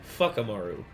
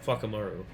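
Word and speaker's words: Whakamaru: Uh, it's spelled Wakamaru, but it's but they say fakamaru because of the Mauy pronunciation of fua uh fakamaru.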